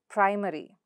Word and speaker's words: primary: So where does the stress come? So ary comes here. Look at this, ary, right? So now where does the syllable stress go? The syllable that's right before the suffix. So here it is, pri. And in the second word, it's die. So where do you stress and how do you stress and how do you pronounce it? Primary, primary. Diary, diary.